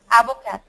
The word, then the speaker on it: avocat: okay say the word avocat no you don't pronounce the T the S the P